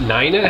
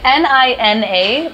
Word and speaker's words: Nina: Is it not Nina? How do you spell that name? It's N-I-N-A, but it's pronounced Nina, not Nina.